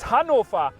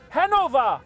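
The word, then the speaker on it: Hannover: Another big city in Germany is Hanover and not Hanover.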